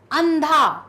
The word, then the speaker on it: अंधा: चांदी चांदी ठीक है अंधा अंधा अंधा नहीं अंधा अंधा सिर्फ ना का उच्चारण है थोड़ा मैंने जब आपको